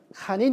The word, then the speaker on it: 환인: 그리고 환국의 통치자를 환인, 한님, 뭐 하느님 이렇게 하는데 환인을 그 당시는 한인 이렇게 발음했습니다. 그 예를 들면 우리가 바이하이 호수 바이하이 호수를 바이칼호수라고 부르죠.